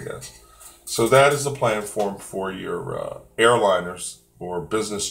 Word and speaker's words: planform: So let me PLANFORM. This is a wing plan form. That is how we pronounce it, plan form.